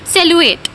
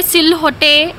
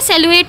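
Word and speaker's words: silhouette: अब इसका एक सिनोनिम ऐसा है जो बहुत ही डिफ़िकल्ट है, जिसे हम प्रोनाउंस करते हैं सेलुएट। इसे सिल होटे ऐसा कुछ भी प्रोनाउंस नहीं करना है, ये सेलुएट होता है, जिसका मतलब होता है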